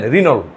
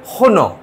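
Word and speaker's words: Renault: এটা ফ্রান্সের গাড়ি, বাট ইন্ডিয়া এটা উচ্চারণ করলে কি জানেন, রিনোল, কিন্তু ওরা বলবে কি হন, আর এর উচ্চারণটা দেখেন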